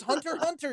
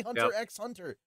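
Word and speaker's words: Hunter × Hunter: the same thing it's Hunter Hunter you don't say Hunter x Hunter you sound like an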